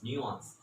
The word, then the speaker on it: nuance: words the word is nuance so you can see this painting on the board and the pronunciation is in two parts one is new second is on so it becomes nuanced so basically the meaning